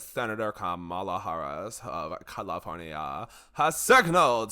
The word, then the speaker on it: Kamala: Kamala Harris. It's okay. You said her name wrong.